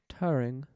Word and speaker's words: Turing: so in the 1950s british computer scientist alan turing oh shout out to turing thank you alan turin how do you say that in a british accent turing there it is suggested that periodic patterns in